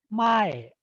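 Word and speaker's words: 前: So an example that we all know is ippome mae. Mae starts from high and then it drops.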